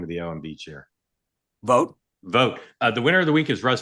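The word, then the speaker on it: Vought: Sean, how do you pronounce the last name of the OMB chair? Vote.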